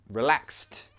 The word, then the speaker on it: relaxed: Not relaxed, no. Relaxed. Say it like that. Relaxed. Good job. So in that word, we pronounce the ED like a T sound.